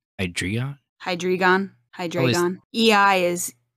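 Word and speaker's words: Hydreigon: getting real creative with the name or it it's spelled differently it's h y d re e i g n hydreon hydreon hydreon EI is like like M like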